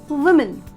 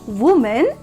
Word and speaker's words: women: organized an empowerment program so here it's women women not woman okay friends english is a